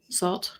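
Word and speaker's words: Sault: Salt. So, it's a French pronunciation, I'm sure.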